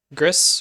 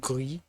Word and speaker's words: Gris: It'll probably be Gris or as it should be pronounced Glee because it's French. Um means gray.